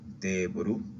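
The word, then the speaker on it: テーブル: Recuerda hacer la doble E, teburu.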